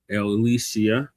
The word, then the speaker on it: Ilyasah: Elisia.